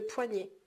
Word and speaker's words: poignet: le poignet, le poignet comme ça. donc ça s'écrit le poids، poids.